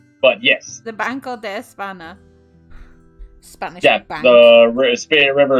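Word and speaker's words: España: just a heads up it's pronounced Espana okay Espana oh yeah you got the weird wiggle on the end the wiggle yeah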